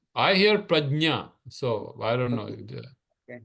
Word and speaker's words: prajna: So that ja and nya coming together becomes nya. So that's prajna, technically.